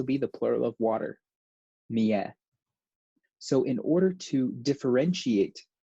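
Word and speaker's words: مائة: this alif is not being pronounced. It's just going mi'a, because we can't really go mi'a, right?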